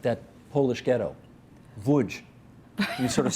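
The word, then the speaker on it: Łódź: Wuj. You sort of say it like that, okay. Which English people say lodge, which it isn't, it's wuj.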